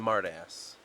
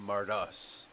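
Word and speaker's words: Mardas: i spell that yeah it's always been marta ass not mardus the confusion between mardis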